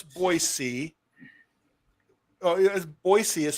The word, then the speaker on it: Boise: I know, Boise. Melbourne. Melbourne. MELBN. Melbourne. That's it. Melbourne. BOISE. No Z.